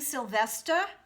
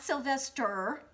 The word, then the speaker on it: Sylvester: side when you sing sylvester it's not sylvester but sylvester so you drop the r and make it a